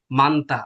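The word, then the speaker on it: 많다: যেমন এটা, এটা কি হয়েছে? মান্তা, আমি নিয়ে উচ্চারণ করছি, এরপরটা আমার দেখার দরকার নাই।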